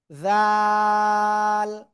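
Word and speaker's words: ذ: ওই একই জায়গায় উচ্চারণ হবে, জিহ্বার আগা উপরে দুই দাঁতের আগায় লাগাতে হবে, লাগিয়ে তিন আলিফটা নিয়ে উচ্চারণ করব, ঠিক আছে। জাল, জাল।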